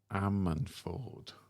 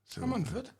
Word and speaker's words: Ammanford: I did collar a band, and I did struggle to pronounce their name. Shame on me. And it was Ammanford. Ammanford?